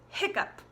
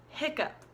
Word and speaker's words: hiccup: so the word is hiccup hiccup and we pronounce it like hick HIC up or a